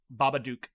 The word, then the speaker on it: Babadook: Babadook. Yeah. Yeah, but it's spelled here.